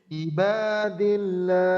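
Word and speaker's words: عباد الله: আলহামদুলিল্লাহ, ইবাদিল্লাহ। এটা যেন হামজার মতো না হয়, ইবাদিল্লাহ নয়, ই আইন জের ই, হ্যাঁ ইবা, হ্যাঁ আইন উচ্চারণটা।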